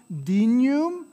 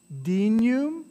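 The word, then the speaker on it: dignum: sur sum corda so there's your gn again that nya sound dinum at ustoom est dinum right first syllable accent on the first syllable dinum ustoom est so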